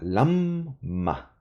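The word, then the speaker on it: לָמָה: es la más pero los hebreos lo van a pronunciar de esa forma Lama el acento viene acá en la primera sílaba y por eso divido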